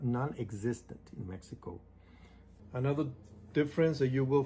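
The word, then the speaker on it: México: Of course, it's kind of just to prepare you, you know, when you go to Mexico. It's not Mexico, it's Mexico. Even though it has that X, we don't pronounce it.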